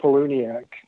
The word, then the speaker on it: Palahniuk: I mean, if you want to talk about modern horror, Chuck Palahniuk, who's often... That's how you pronounce his last name.